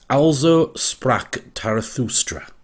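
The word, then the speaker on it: Also sprach Zarathustra: this music and it apparently the title is pronounced alzo sprock tarathustra just to let you know lots of requests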